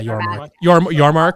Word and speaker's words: Yormark: But and we know Yormark, is that how you say it? Yeah, Yormark.